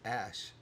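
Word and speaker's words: Æ: I now know thanks to Elon Musk is pronounced ash yo you knew that I was like you're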